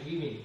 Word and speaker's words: women: Ini o-nya berubah menjadi dibaca we ya, women. Ini dibaca, di sini woman dibaca u, di sini dibaca i ya, ada perubahan.